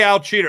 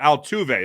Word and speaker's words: Altuve: postseason history Manny Ramirez Jose Al cheeter excuse me Altuve is how that's pronounced Jose Altuve Bernie Williams